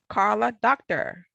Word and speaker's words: Karla Docter: next co-author is Karla Docter. Did I pronounce that correctly, Karla?